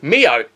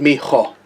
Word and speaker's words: mijo: Mio. Oh, Ethan, what does Mio mean in Spanish? I don't know, but it's actually pronounced mijo.